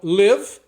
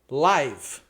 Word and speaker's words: live: Então, live, live. Live é o verbo morar, viver em algum lugar e live é ao vivo, né?